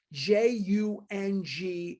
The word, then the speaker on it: Jung: Jung is pronounced Jung.